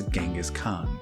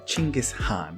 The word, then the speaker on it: Chinggis Khan: This child is now known as Genghis Khan, or rather Chinggis Khan, which I've apparently been pronouncing incorrectly for the last 30 years.